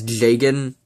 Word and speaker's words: Jagen: Anyway, in the old, Fire Emblem OVA, they pronounced his name as Jagen, so that's the one I'm going with for this.